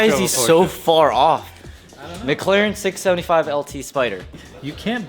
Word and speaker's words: McLaren: McLaren 675 LT Spider.